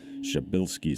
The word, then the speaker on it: Przybylski: I'm told that something close to the proper pronunciation for this star is Przybylskis star. I'm sure I got that wrong.